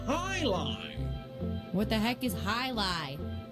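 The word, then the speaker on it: jai alai: It's pronounced highlight.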